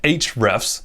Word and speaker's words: ahrefs: a few more here ahrefs yes i had tim solo on my podcast and he said it's pronounced hrefs but i'm gonna recommend